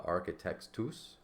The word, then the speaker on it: architectus: architect uh architectus architectus so AR key so what they're saying is you don't separate the H from the C because it's like I said earlier that's just one it's just a c it's just a c that aspirated so the H is